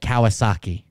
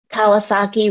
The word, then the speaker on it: Kawasaki: Suzuki would be in English someone said uh Kawasaki Kawasaki would be Kawasaki okay um hold on what